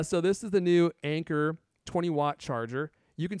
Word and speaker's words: Anker: a german company but they are pronounced anchor but in my mind i always call them anka because i like to